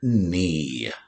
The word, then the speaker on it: knee: consonants ghost our fourth word is the word knee he hurt his knee when he fell while